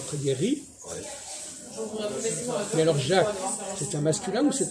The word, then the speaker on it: Jacques: Voyez-vous, bref, ne pas prononcer le C au masculin et le garder pour le féminin.